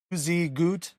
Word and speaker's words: Tuzigoot: I got to look at my paper to remember the name and how to pronounce it. They say it's Tuzigoot Ruins which is great.